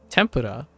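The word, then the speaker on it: 天ぷら: tempora do you see tempora well when you see when you see it in Japanese it's tempera even if your pitch accent is slightly off it's still tempora or like a you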